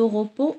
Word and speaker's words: repos: Il mérite beaucoup de repos, repos S.